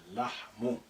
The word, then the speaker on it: اللحم: So the first lam is silent. Say اللحم.